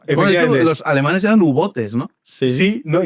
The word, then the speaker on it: U-Boot: Yo creo que es U-bote. Es B-O-O-T-E. Bote. Bote. Pero en alemán. Sí. En alemán se pronuncia prácticamente todo. No es como en inglés.